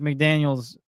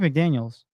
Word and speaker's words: McDaniel: And it looks like Mike McDaniels. I I feel like I'm saying his name wrong, but I'm It's Mike McDaniels. Let's find out. Yeah, Mike McDaniel.